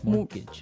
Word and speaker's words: mortgage: with a t yeah it has a t in it but you don't pronounce it you say mortgage morgage so not Mort mortgage not morgage morgage morgage